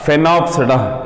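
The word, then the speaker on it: Sphenopsida: So once again I am telling you that Coelopsida, Lycopsida, Phenopsida, S is silent, and Pteropsida.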